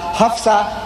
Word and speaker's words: Hafsah: talking about omar the second caliph of islam hafsah you pronounce it correctly so in that case if